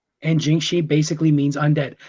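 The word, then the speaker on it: 僵尸: ones is uh comes from china and it's pronounced jinxi and jing shi basically means undead not to be confused with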